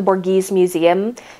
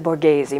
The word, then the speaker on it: Borghese: and the Borghese museum I said it wrong the first time when I I asked someone I was like oh I'm trying to go to the board gives me she's like you mean the Borghese Museum and I was